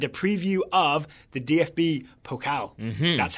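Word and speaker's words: Pokal: Bundesliga review and a preview of the dfb pocal that's how you pronounce it pocal all right and you know why we're doing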